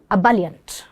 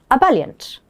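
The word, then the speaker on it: ebullient: The word is aboliant. Abaliant. And here's here is its pronunciation. U ba leant. Although the word starts with an e, the pronunciation is uh okay.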